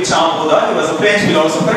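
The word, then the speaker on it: Jean Bodin: first ever political thinker the actual pronunciation of this name will be CH buha he was a French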